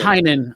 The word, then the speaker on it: Tynion: It's Tynion, apparently. It doesn't. Be surprised. It's like every other month somebody convinces me it's a different way. So I think it's pronounced Tipton. It's Tiny, and that's why he calls his company Tiny Onion.